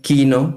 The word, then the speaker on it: chino: Y ese quino que se pronuncia así se escribe chino.